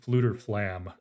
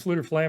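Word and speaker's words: Fflewddur Fflam: Jetser mentioned Fluter Flam, which is how I pronounce it. It's got multiple F's in it.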